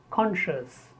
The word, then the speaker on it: conscious: Conscious. Many people, they speak year after sh. Conscious. The correct pronunciation is conscious.